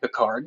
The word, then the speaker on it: Pickard: a great shot the pickard family uh uh ed pickard or ed picard depending on how you uh depending on how you pronounce it uh most locals eventually just settled into pickard um uh before he